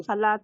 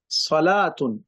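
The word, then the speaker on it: صلاة: चाहिए भाई सलवा और सलात य भी एक जैसे ही लिखे जाता लेकिन बोलने में अलग अलग हो जाता सवात सला सलात वा पढ़ नहीं जाएगा सला उसे वा को साइलेंट कर दिया जाए जैसे जमा अगर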